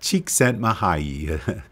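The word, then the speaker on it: Csikszentmihalyi: all according to Wikipedia mwi's last name is pronounced chent mahay quite a mouthful the diagram we're looking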